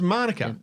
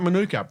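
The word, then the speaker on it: mānuka: Same as Manuka. Yeah. The people talk about Manuka. No, That's the Pakeha way of saying it. They always emphasise the first syllable.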